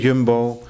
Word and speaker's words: Jumbo: your way at the Yumbbo. You said jumbo. Oh yes, there you go. Correct pronunciation.